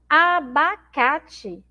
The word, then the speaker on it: abacate: exemplo na aula anterior abacate abacate Então a gente tem aí a palavra abacate que na última sílaba nesse Tim eu escrevo com é Tá mas eu leio com ih porque porque ele tem